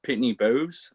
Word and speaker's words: Pitney Bowes: or with they use Pitney Bowes.